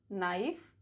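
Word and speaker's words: knife: के is silent before N एंड एट the beginning of a word. For example, नाइफ, knowledge, नी, नॉट, no, knob, neck, निट, नकल, knoll.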